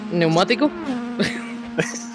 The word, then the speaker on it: neumático: ¿Neumático? Empieza por P. Da igual. Pero la P no se pronuncia.